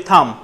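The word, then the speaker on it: thumb: এটাকে আমরা কি বলি থাম থাম এখানে বি উজ্জ্ব আছে কি উজ্জ্ব আছে থাম সবাই একটু বলি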